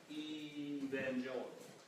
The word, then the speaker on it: Evangelical: And in their heyday, the Virginia churchmen had many shibboleths, and one was that their name should be pronounced with a long E, Evangelical.